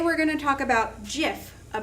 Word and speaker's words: GIF: page so today we're going to talk about jiff a pronunciation lesson we're going to go over what